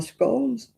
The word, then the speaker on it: scone: But your biscuits are like our scones, scon, whatever. People argue about that. And that's in England. Whether it's a scone or a scone, it depends where you come from.